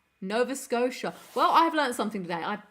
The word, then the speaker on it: Nova Scotia: my my apologies and it's pronounced scoa Nova Scotia well I learned something